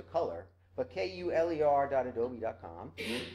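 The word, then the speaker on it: Kuler: do folks know adobe's kul ER I think they're pronounced a color but kul errr domi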